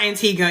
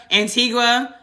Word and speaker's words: Antigua: pronounce that nope and it's not Antiga it's something it's it's no it's angia that's what it is angia Antigua Argentina Bahamas Biz Brazil